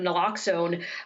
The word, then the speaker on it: naloxone: overdose prevention through the distribution of, I guess, naloxone, is that how it's pronounced?